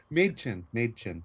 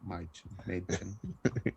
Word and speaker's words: Mädchen: Mädchen, not my chin.